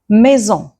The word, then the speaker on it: maison: If S is placed between two vowels, it's going to be pronounced as Z. It will give the Z sound. So it will not give S, it will be Z. Let's see examples. Maison, musique, voisin. Maison, musique, voisin.